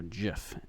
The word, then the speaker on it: gif: this light mask sheet dot gif or Jif in the case that you actually pronounce it like the Creator so that is your